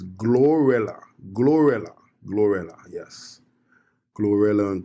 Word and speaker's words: GloRilla: GloRilla. Let me let me just let me make sure I'm pronouncing her name right. It's GloRilla.